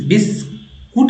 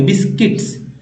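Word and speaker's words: biscuits: रूप में हुआ वेग बिस बिस कुट नहीं पढ़ने बिस्किट्स क्योंकि यू जो है लिखते जरूर है साइलेंट रहता है ठीक है यहां साइलेंट है तो बिस्किट्स पढ़ लेंगे बिस्किट्स बिस्कुट लोग बोलते हैं बिस्कुट तो जिनको नहीं पता है इसका उच्चारण सही से तो वो तो बिस्कुट ही पढ़ेंगे ना बिस्किट्स है बिस्किट्स क्योंकि यू साइलेंट है एन को एन बोलते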